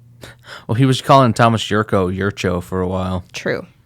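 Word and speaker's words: Jurco: Well, he was calling Thomas Yurcho for a while. True. I think that's because Yurko was like, no, man, it's Yurcho.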